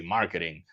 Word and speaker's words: marketing: Hablábamos del equipo de marketing and we were trying to improve our pronunciation of the letter T, right? Because marketing is functional, funciona, but we feel more comfortable. We feel more confidence when we can say marketing, like the native speakers, right?